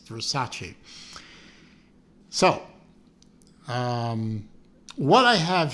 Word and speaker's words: Versace: correct the um main characters uh pronouncing of the word vers Versace or something like that they say no dear it's Versace so um what I